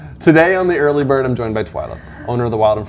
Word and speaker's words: Twila: What was the common, what would people call you? Oh, Twila, Twirla, Twiler. Twila? Oh, Twila.